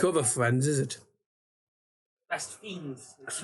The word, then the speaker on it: Best Fiends: Best Fiends. That's right, I heard a story. It's pronounced Fiends.